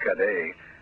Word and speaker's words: Cadet: It's right next to the cockpit, and police spokespersons said that Ernest Cadet, or if you want, since he's Haitian, pronounced Cadet, 37, who resided in the state Nada, suffered a fatal gunshot wound to the upper body.